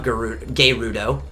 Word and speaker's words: Gerudo: lightning, which is the Gerudo. That's how you pronounce it. You don't blur the R's together with Japanese words. Each are a syllable.